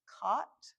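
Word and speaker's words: qat: So, what what you see here is something I think it's pronounced cot or it's like q a t.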